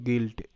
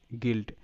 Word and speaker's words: guilt: ইউ আই এর sound এখানে রস্য ই হবে, তো রস্য ই।